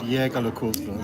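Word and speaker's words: Jaeger-LeCoultre: In Germany, they pronounce it Jäger LeCoultre.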